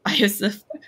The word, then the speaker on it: Iosif: It's like Joseph, but it's Iosif.